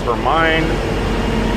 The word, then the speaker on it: Hermine: Hermine? I thought it was Hermione. And then I looked at the spelling. It's not, it's Hermine. Which was weird because when